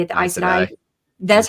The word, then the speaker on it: Aes Sedai: But the first part is AES, which is the same as that I don't know how you say it, the Aes Sedai.